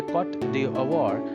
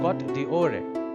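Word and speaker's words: Côte d'Ivoire: में रखा गया, और इसे अगर हम प्रोनाउंस करना चाहें फ्रेंच में करना थोड़ा मुश्किल, लेकिन ये कॉट d'Ivoire या कॉट d'Ivoire करके हम बोल सकते हैं। हालांकि मेरा प्रोनाउंसिएशन इतना ठीक नहीं था, लेकिन आप आइवरी कोस्ट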